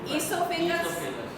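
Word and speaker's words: esophagus: ईसोफेगस, ठीक है? ओ is silent, ईसोफेगस।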